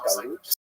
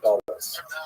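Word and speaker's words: גָּלוּת: In Hebrew, it was galut, or in a Ashkenazi pronunciation, galut.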